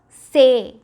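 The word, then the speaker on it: ces: So this is ce. Remember, ce, say. Ce, say. That's how it is pronounced.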